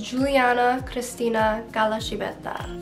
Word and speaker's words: Giuliana Cristina Calascibetta: The way you pronounce my name is Giuliana Cristina Galashibeta.